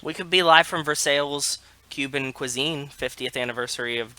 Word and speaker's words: Versailles: wait by the way I just said Versailles and I know that that sounds weird but that's because in Pennsylvania we have a town called it's spelled Versailles but called for sale so when I read that word I hear Versailles I figured you had